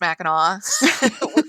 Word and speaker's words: Mackinac: not familiar is that no matter how it's spelled it's pronounced mackinaw we we know you're